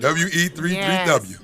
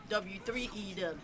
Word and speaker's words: W3EW: WE33W. No, W3EW. Oh, okay. Say it right. It's a W3EW.